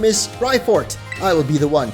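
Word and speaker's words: Raifort: heck does that mean like ride on but no it's spelled r-a-i like ryko maybe yo is that Professor lavington on the board my guy oh my name is rifort I will be the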